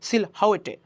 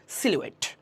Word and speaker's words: silhouette: আমরা উচ্চারণ করতে পারি সিলহাউয়েটে, না, এটা উচ্চারণ হচ্ছে সিলুয়েট, এটা উচ্চারণ হচ্ছে সিলুয়েট।